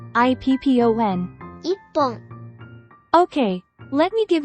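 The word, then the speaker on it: 一本: Remove chi from ichi, leaving just I. Then, add PPON after it, making it IPPON.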